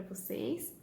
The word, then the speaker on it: você: Qual sílaba que eu falo mais forte? Vou ou se? Se, tá? Então, essa é a sílaba tônica, porque aqui eu falo mais forte, tá?